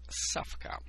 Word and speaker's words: Ssawka: challenge in result emerged specific device I call safka W in Polish is pronounced as a letter G this device in